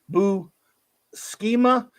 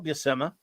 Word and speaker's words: Buscema: Buscema. Well, I remember there was an issue of Nova where Sal Buscema, Nova went to the Marvel offices and he met Sal Buscema, and he said, "How do you say?"